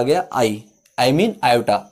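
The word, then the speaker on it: iota: आ गया I mean आयोटा। आई मत बोलना, आयोटा बोलना थोड़ा टाइम लगता है इसलिए आई बोल दो, कोई दिक्कत नहीं, लेकिन इसकी जो रियल प्रोनाउंसिएशन है वो क्या होती है, आयोटा।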